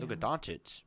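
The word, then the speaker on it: Luka Dončić: Luka Doncic is more how it's pronounced.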